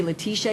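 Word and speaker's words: Letizia: I always say I'm American first, I mean, my name is Letitia, and it's spelled with a Z, but I say Letitia because it's closer to the American way, plus my mother would say it that way too.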